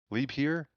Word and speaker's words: Liebherr: chat representative of switzerland i can vouch for the pronunciation being liebherr leap here i believe is how you're saying to pronounce that appreciate the input there